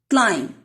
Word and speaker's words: climb: Climb, B is silent.